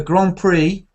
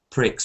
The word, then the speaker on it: grand prix: you read that grand you have to read it in French because otherwise it sounds a bit rude actually so we have to say but the grand prix or something like that is better than saying pricks because you know okay so